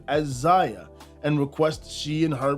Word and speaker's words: Zaya: read the child has not done anything but pronounce her name as Ziya and requests she and her pronouns that's it